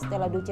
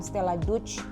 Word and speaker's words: Stella Duce: dan asrama stelladuce SMA Stella duce 1 dan Stella duce 2 stelladuce ia aku waktu itu dikasih tahu bahwa pengucapan SMA Stella duce itu stelladuce bukan setelah juz atau Stella Dutch attacked by Stella jus